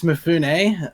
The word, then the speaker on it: Mafune: today we got uh mifoon is it mifoon or mufun or how do you pronounce it uh usually it's mafune is the correct pronunciation but uh people like